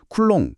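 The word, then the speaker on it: coulomb: 여기서 C는 쿨롱 쿨롱이라고 읽는 전화의 국제 표준단위고요.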